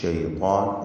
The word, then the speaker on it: الشيطان: ലഹുമുഷ് ശൈത്വാൻ എന്ന് ഓതേണ്ടതാണ്. ശൈത്വാൻ എന്നതിൽ ത്വായിനും അലിഫിനും തഫ്ഖീമാണ് കൊടുക്കേണ്ടത്. ഇസ്തിഅലാന്റെ ഹർഫിനെ ദീർഘിപ്പിക്കുന്നു, ആ ദീർഘത്തിനും തഫ്ഖീം നൽകുക.